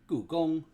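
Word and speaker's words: Gugong: All right, we're talking about Googong. Googong. And technically, if you want to say it with the tones, you could even say Googong, because that's technically how it's pronounced.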